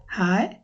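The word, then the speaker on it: hej: আমরা বলি এটা হেই হাই হ্যালো হ্যালো মানে হ্যালো তো একটা সময় যেভাবে বলেছিলাম যে অনেকটা এর মত উচ্চারণ করে এজন্য এখানে হে বলবা না বলবে হেই হেই মানে হচ্ছে হায় যখন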